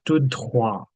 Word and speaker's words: tout droit: There's an E here, so we say the T. Whereas here, T is the last letter, so we're saying tout droit.